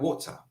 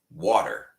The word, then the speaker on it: water: But in the British dialect, sometimes the R disappears, like water, right? If they say water, they will not pronounce the R. And I will say water, okay?